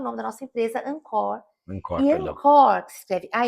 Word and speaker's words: encore: Quando você vai num show, é uma palavra em francês.